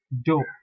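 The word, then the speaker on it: deux: that ah nasal sound number two d-e-u-x pronounced as do though maybe uh there's no equivalent but however i can tell you that you and x are not pronounced in french in the last letter of number two pronounce that do then you have number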